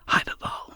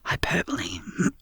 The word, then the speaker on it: hyperbole: love that word fervor hyperball I I see I always say that wrong I've said it wrong in a script hyperbole beg my but a